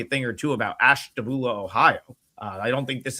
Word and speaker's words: Ashtabula: Well, it's pronounced Ash Ashtabula.